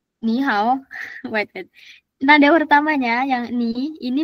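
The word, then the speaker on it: 你好: tiganya ketemu kayak gini, ingat pokoknya yang pertama nadanya jadi nada dua. Tulisannya tetap sama. Tulisannya tetap sama. Ee dia kayak aturan enggak tertulis gitulah ya bahasanya. Dibacanya ni, how, bukan ni, how.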